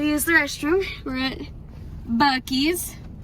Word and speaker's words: Buc-ee's: We're at Buc-ee's. It's very famous here in Texas. And it's not pronounced Busey's.